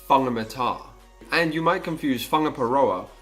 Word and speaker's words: Whangamata: On the other side of the country, for instance, you may think a place is pronounced Wangamata when it's actually pronounced Whangamata.